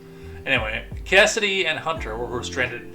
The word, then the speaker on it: Kasyddee: I mean, to me it says KCD. But given traditional naming and everything, Cassidy makes more sense. Anyway, Cassidy and Hunter were stranded